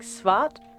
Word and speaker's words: svart: And so we've named him Black in Swedish, which I believe might be pronounced something like Svart.